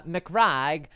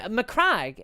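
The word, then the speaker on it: Macragge: uh clavic casca says I've always heard it pronounce uh mcrag but we not asked for it in McDonald's avoid mccrag has always been everyone I knew pronounces it that way but like I mean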